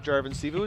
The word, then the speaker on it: Jarvan Sivu: Also into the game comes Justin Jarvan Sivu from Tomahawk, Wisconsin. He replaces Fox. Yeah, it's just your standard pronunciation of Jarvan Sivu. It's just like it's spelled.